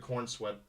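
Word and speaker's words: Corenswet: There was some behind the scenes of David Kornswe. I believe that's how you pronounce the It is.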